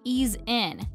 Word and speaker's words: Easine: vacuum from ilife yes it's pronounced ease in to ease us into cleaner homes okay and no ease